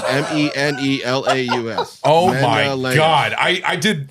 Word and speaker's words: Menelaus: Menelaus. Malawis. I even went online and looked at it. Malawis. It's Menelaus.